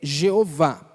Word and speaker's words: Jeová: do senhor em vão a pronúncia mais usual mais conhecida dessa palavra é jeová ou e a fé ou Javé são as